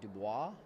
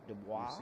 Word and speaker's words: Dubois: I think it was Dubois. Like the French way, Stephen. Dubois.